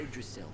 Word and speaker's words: Yggdrasil: This is Yggdrasil, the Tree of Life. It's Wait, a holy that's how tree. you pronounce it?